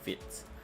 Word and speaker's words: Vite: mistaken the pronunciation as white because you know you see the word that's the spelling of the word it seems like it's vibe but it's actually french so it's actually fit um okay so i'm